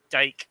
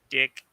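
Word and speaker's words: Dyck: know the goaltender uh reed dyke or dick whatever you choose to pronounce it i did want to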